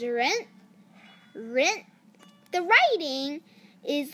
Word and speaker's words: 人: first one is person the pronouncation in Chinese for person is rent rent the writing is like